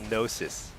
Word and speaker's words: Gnosis: Um, cast bar is called gnosis. With a silent G.